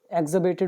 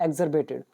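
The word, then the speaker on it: exacerbated: इसमें कई बार आर को साइलेंट भी बोल दिया जाता है, एक्जर्बेटेड बोल देते हैं या एक्जर्बेटेड।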